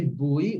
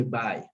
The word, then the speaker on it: by: gate the bird by we don't say buoy we say bye okay so we will